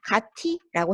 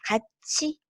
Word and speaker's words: 같이: 자, 그러면 가티라고 해야 하는 게 맞다 이 말이죠. 그죠? 자, 그런데 우리가 가치라고 실제로 발음하느냐? 우리 집에 가티 가자 이럽니까? 아니죠. 그죠? 어떻게 발음합니까? 우리 집에 같이 가자라고 하잖아요. 그래서 같이 이렇게 발음하는 것이 맞다라는 겁니다.